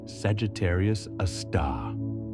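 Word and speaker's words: Sagittarius A*: It's called Sagittarius, a star, pronounced Sagittarius, a star.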